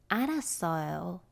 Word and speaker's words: 알았어요: Then the actual pronunciation would be 알았어요.